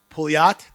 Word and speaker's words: Pouliot: Then we'll have Pouliot. Did I pronounce it properly? Nailed it. I nailed it.